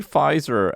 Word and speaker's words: Pfizer: up to ninety five did you pronounce the p at the front of five yeah pfizer this guy am i